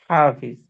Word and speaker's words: حافظ: প্রথম আলাইহা, এই হাটা স্বাভাবিক। এরপরে যে হাটা, এই হাটা একটু ওই চাপ দিয়ে উচ্চারণ করতে হবে।